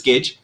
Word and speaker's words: Kej: cage c a g just like how you would say Nicholas Cage okay good deal uh